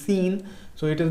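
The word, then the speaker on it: Seine: that is your s-e-i-n-e please don't get confused with the pronunciation it is seen so it is not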